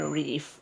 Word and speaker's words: Reef: my name which is Reef you know do more water stuff by the way his name is spelled as in reef reef re e e f yes right so